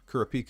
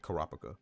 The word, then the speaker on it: Kopaka: you're right you're right kurpa is how I pronounced it before I heard them actually say kopaka my bad got you